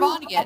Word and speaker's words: Vonnegut: It's by Kurt Vonnegut. I can't say. Vonnegut? Kurt Vonnegut? Yeah, Kurt Vonnegut. I think it's Vonnegut. terrible. Yeah, that's how you pronounce it.